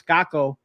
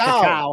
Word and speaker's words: cacao: So I did a pantry haul video, and I got reprimanded in the comment section about how to pronounce caco, several different types. Cacao. It's cacao.